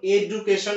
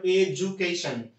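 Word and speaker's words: education: করা যায় হচ্ছে কমিটমেন্ট এডভান্সমেন্ট তারপরটি আইন যেমন এডুকেশন না উচ্চারণ এজুকেশন এটা হচ্ছে বর্গীয় জয়ের মত তারপরে হচ্ছে ফরমেশন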